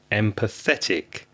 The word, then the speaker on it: empathetic: looking for is empathetic empathetic so what's that four syllables whether empathetic yes empathetic and you need to stress the third syllable empathetic i want to